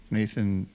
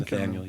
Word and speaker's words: Nathaniel: I've been listening to a lot of Ray LaMontagne lately, and Gregory Alan Isaacoff, and Nathan Ratcliffe. Is that how you say his name? Nathaniel, yeah.